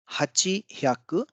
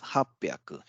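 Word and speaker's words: 八百: an exception which is instead of Hachi Haku we have hapiaku now what's the reason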